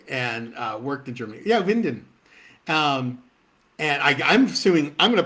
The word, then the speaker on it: Winden: I think it's a fictional town, Winden, or Winden, if you're going to say it like I say Mount Diablo. It's Winden in Germany.